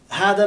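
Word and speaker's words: هادا: But notice here, this is hada, it's from hada in the fusha, is written like this, okay? But in Amiyye, we pronounce it, we just say had or hada.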